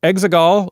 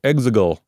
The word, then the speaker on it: Exegol: Exegol? Yeah. It's not quite as distinct as Han Han or anything like that, but there's Exegol or Exegol. Like Exegol, and they say it differently within the movie, which is, again, one